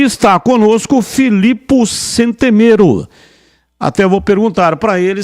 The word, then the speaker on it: Centemero: E sobre a pronúncia do meu nome, está quase certa, é Centemero, mas aqui no Brasil é Centemero mesmo, então pode seguir. Centemero, essa é a pronúncia correta?